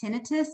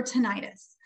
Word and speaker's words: tinnitus: settle a common debate how do you pronounce this word is it tinnitus or tinnitus well the answer is actually both both are accepted terms though most healthcare providers or more healthcare providers tend to say tinnitus however if you say